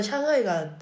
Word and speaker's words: 상하이: 진짜 상하이가 샹하이야? 라고 했더니 중국에서는 상이라는 발음이 아예 없다고 하더라고요. 그래서 샹하이가 네, 올바른 발음이라고 합니다.